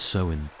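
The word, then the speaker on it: Samhain: observed a festival called Sewin, pronounced sewing, marking the end of the harvest season and the beginning of winter, the darker half of the year.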